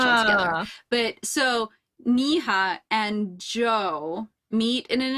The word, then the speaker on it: Neha: So it is Neha. Yeah, either. Okay, thank you. She was Naya in my head this whole time. I skipped the H altogether. But so Neha and Joe meet in an interrogation cell.